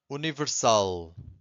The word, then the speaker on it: universal: weak test this one universal Universal where is the strongest syllable I'm going to say it again Universal Universal it's the last one right so here you